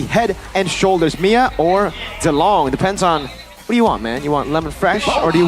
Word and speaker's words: Zilong: So apparently, we pronounce Mia Maya now. Yeah, it's Maya. Apparently. Maya. And Zilong is what? Zilong.